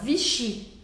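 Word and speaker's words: Vichy: seu coração vichi vichi as palavras em francês em geral vão ser oxítonas a última sílaba é a que é a mais forte a mais que a gente Escuta mais forte por isso a gente fala vichi vichi e não V é vichi vichi você percebe a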